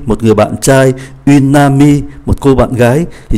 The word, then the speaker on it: amie: cô bạn gái, thì chúng ta thấy bạn trai và bạn gái viết khác nhau nhưng mà phát âm giống nhau. Un ami, une amie, ami, ami, mặc dù có thêm ơ nhưng mà phát âm vẫn giống nhau.